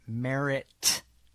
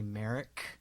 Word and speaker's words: Merritt: other author's name um Billy Merritt not Billy Merrick Garland Billy Merritt two T's uh but it but